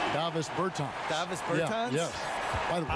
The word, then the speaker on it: Davis Bertans: Oh, well, now, at this point in my life, it's Davis Bertans. Is that how you say his name? Davis Bertans. Davis Bertans?